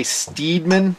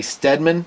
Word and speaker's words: Steadman: Some people say Steedman, but I say Steadman Knife Company.